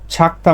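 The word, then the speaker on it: 작다: অনেকে মানে জ পড়ে বেশিরভাগ ঝ এর মত উচ্চারণ করে আমি ছ এর মত বলি কারণ হচ্ছে লিসেনিং আপনাদের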